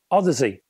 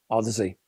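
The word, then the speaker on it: Audeze: to hear that the drivers were licensed from Odyssey and incidentally that's how you pronounce this word it's not as I thought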